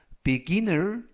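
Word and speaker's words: beginner: 있습니다 활용 문장 보시겠습니다 He is 그는 a beginer 보자야 at driving 운전에 있어서 즉 전체적 의미는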